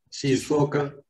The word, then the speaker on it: Shizuoka: Él es graduado de Escuela de Ingeniería de la Universidad de, no sé si se pronunciará Shizuoka, Shizuoka, Japón. sí. Shizuoka.